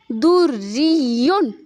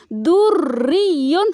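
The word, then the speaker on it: دُرِّيٌّ: قویٌ قوی، دریٌ دری۔ یہاں پہ ڈبل شدہ ہے، را بھی مشدد ہے اور یا بھی مشدد ہے، تو اکثر یہاں پہ ہم کیا کرتے ہیں، ایک شدہ کو تلفظ کرتے ہیں اور دوسرا ہم بھول جاتے ہیں، جیسے کہ دریٌ، ہم اکثر پڑھتے ہیں دریٌ۔ را کو ہم بالکل مشدد کرتے ہی نہیں، صرف یا کو مشدد پڑھتے ہیں۔ تو یہاں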